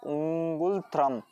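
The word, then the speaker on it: ngultrum: इस स्टार्ट होती है एन से, लेकिन एन साइलेंट है, उंगुलत्रम ये इसकी प्रोनाउंसिएशन है इसकी करेंसी का।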